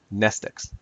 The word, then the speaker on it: mnestics: Mnestics, Class W, X, Y, and Z. Same Greek root as the word mnemonic. The M is silent.